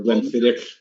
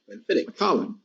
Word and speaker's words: Glenfiddich: The CH in Gaelic is a ch sound, like Bruichladdich or Glenfiddich.